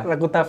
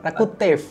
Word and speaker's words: Rakutaf: Rakutaf ya, Rakutaf tuh Rakutef. Oh, Rakutef bacanya.